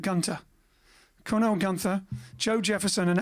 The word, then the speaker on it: Gunter: the place los angeles california it is here a recent discharge young army veteran named herb reed recruited cornell gunther would just pronounce that gunter cornell gunther joe jefferson